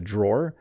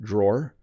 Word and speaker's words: drawer: would be in a drawer. Notice how I'm pronouncing this word drawer. It's kind of a weird sound isn't it? Drawer. It looks like drawer. But a drawer is someone who draws.